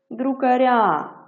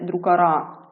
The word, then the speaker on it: друкаря: вітерець дмухнув слово змінили друкаря наголос у нас перейшов на закінчення пір'ячко наше перелетіло відповідно це м'яка група Ми кажемо друкаря а не друкара також до м'якої групи